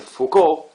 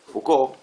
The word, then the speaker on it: Foucault: Fíjense que el apellido se escribe Fult, pero se dice Foucault. Foucault.